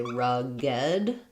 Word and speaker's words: rugged: they instead of So, I don't say rugged, I say rugged. Um, two syllables. Rugged. So, it sounds like id at the end or beloved.